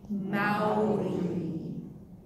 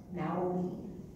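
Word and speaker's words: Māori: Okay, so it's Mao, there's like an O, and then there's a rolled R. So let's try that. Maori. Right, Maori.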